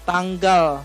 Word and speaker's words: tanggal: Yes, tanggal. So we have the L sound at the end.